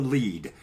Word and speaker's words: lede: It's called the lead.